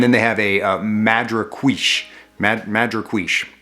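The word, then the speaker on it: Madrecuixe: they have a uh madra quiche mad madrequish i don't think i'm saying that right uh he he pronounced it uh madriquish is is a type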